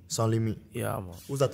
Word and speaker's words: Sanslimite: Hoe spreek je het uit, Sans? Sanslimite. Sanslimite.